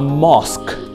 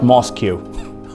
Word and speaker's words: mosque: vehicle all right the third one is a mosque mosque it's not moscu all right and the next one is a